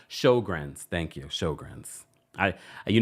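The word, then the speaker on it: Sjögren's: know I was struggling she says it's pronounced showr thank you shrs I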